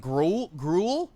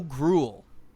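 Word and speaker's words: Groulx: The X is silent. Grul Bo Grul.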